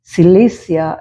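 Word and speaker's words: Cilicia: ഒരു സ്ഥലത്തെ കുറിച്ച് കേട്ടിരിക്കുന്നു spelling C ഐ എൽ ഐ സി ഐ എ സിലീസിയ എന്ന് ഇംഗ്ലീഷിൽ വായിക്കുന്നു അതുപോലെ മക്കദോനിയ ഈസ് എം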